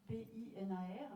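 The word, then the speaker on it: Pınar: Donc je lui ai demandé tout à l'heure comment ça se prononce quand le I n'a pas de point, puisque en fait son prénom s'écrit P-I-N-A-R, mais le I n'a pas de point. Donc en fait il ne faut pas le prononcer, il faut faire comme si c'était pneu.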